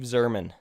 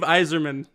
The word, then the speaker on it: Yzerman: of people who are not hockey people don't pronounce it correctly. Steve Zerman. God damn it. Steve Yzerman.